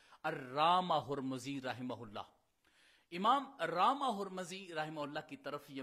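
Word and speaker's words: رامہرمزی: المیم وفی آخرہا الزاء، اور وہ جو دوسری میم ہے اس کے بارے میں فرماتے ہیں کہ اس کے اوپر ضمہ ہوگا۔ تو اصل اس کا تلفظ پھر بنے گا رامہ ہرمزی، اس کو پڑھا جائے گا۔ چونکہ یہ ائمہ اسلام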